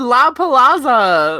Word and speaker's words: La Palazza: let's hear you say it i just did la palazzo well now you're saying it correctly but before